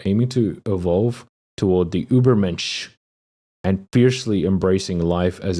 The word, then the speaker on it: Übermensch: The Übermensch, the ideal of individual who creates their own values in the wake of God's death and rises above the conformist herd mentality.